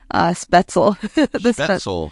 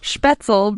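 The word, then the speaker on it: Spoetzl: I think you pronounce it Spetzel. Spetzel Brewery, home of Shiner beer.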